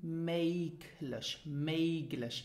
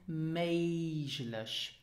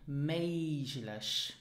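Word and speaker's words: méiglech: meiglich, it is pronounced meiglich. Okay, so because here before the G you have the letter I, the Luxembourgish letter I, then the G is pronounced more like a J, meiglich.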